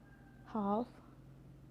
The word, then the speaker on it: half: So the letter L can be silent too. It's quite common when you look to example, like could, should, talk, walk, york, half, calf, salmon.